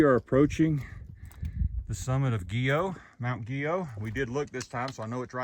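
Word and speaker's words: Guyot: mountain after guo or if you're looking trying to look it up it's spelled Gat guu yo T but the locals told us it was guo said it's French huh I don't know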